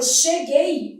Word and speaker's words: cheguei: É tentador, mas não é porque esse aqui não tem som não. Esse u pronunciado. Ó, fazendo a transcrição, cheguei. Esse u, como ele não é pronunciado, ele forma dígrafo.